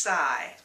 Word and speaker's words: sigh: The verb sigh is pronounced without the GH sound. It's just sigh.